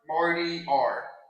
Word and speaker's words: martyr: Marty R. M a r t y r. It's pronounced martyr.